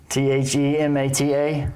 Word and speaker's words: Themata: Song is called Theata. I guess that's how you pronounce it. T H E M- A T A. Yep. Themata. That's how I'm going to pronounce it.